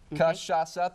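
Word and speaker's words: cachaça: Kashasa, three syllables.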